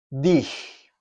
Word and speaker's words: dich: Dich. De la misma forma. ¿Sí? Tenemos aquí la pronunciación de esta G rasposa.